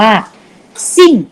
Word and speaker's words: 姓: Name ใช่ ไหม ครับ ภาษา จีน อ่าน ว่า ซิ่ง สมั้ง ซิ่ง สัตว์ มัก